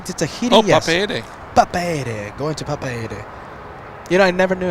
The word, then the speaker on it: Papeete: Papeete, going to Papeete. You know, I never knew how to pronounce that until you came in.